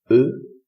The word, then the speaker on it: eux: And so the emphatic form of they in English, which becomes them, becomes eux in French, with an X, which is not pronounced also.